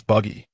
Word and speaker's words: Buggy: It's Buggy.